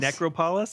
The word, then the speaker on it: Necropolis: necropolis? Is that not Necropolis? Necropolis. Necropolis. You put the wrong emphasis on the wrong syllable.